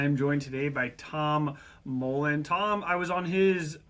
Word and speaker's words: Mouland: Um so, my name is Tom Tom Mullen, um often pronounced as Mullen, and either's fine.